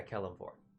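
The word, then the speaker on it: Kelemvor: It was either Kellamvor or Keelamvor. Yeah, Keelamvor. Keelamvor. I blanked on its pronunciation for a moment.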